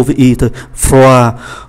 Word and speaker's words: froid: Trước hết là ký tự D nằm ở cuối từ thì không phát âm, froid là lạnh, chúng ta thấy D không phát âm, chỉ còn lại O với I thôi, froid.